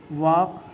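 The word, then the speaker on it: walk: जैसे जैसे मैं आपको एग्जांपल दे दूं वॉक डब्ल्यू ए एल के देखिए यहां पर एल के बाद के आया है तो यहां पर एल साइलेंट हो गया।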